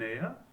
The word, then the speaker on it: heir: Certain words beginning with the letter, the consonant letter H, remains silent.